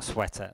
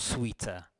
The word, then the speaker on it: sweater: No, it's not a sweater. Sweater, not sweeter.